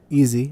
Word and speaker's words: ISY: ISY, or easy, as it's pronounced.